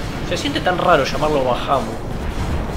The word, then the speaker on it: Bahamut: Creo que es así como lo pronuncian, pero yo siempre lo llamé Bahamut. Ya sabes las razones, yo las cosas las leía como si estuviese leyendo en español, y bueno, y se lee así.